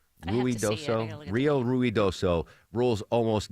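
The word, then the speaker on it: Ruidoso: flooding and the Rio Rioso. Am I mispronouncing that Deborah? Ruid doso.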